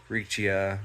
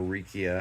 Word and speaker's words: Riccia: Riccia or Riccia, however you prefer to pronounce it, and some good old duckweed, cha-ching, and whatever else is in here is in here.